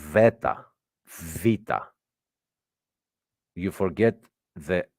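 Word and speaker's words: βήτα: the Ala MH and the beta is pronounced V Veta VA you forget the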